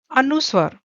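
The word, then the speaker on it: अनुस्वार: Then this this is known as anuswar. How can you pronounce? Again break it, A-N-U, anu, and swar.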